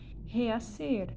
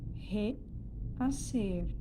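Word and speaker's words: rehacer: No espanhol, a letra H, a letra H, ela não tem som.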